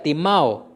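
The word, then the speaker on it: τιμάω: la palabra honra viene del verbo que se pronuncia timao y ese verbo significa tres cosas número uno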